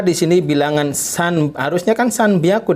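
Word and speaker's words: 三百: Be aku kenapa di sini bilangan sanubar usahakan sanbyaku dibacanya atau dilafalkan Nyana disini karena ketemu dengan B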